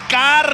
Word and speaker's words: Carlito: It's Carlito.